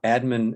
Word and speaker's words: admin: is no longer there admin is stressed on the first syllable Administration is stressed on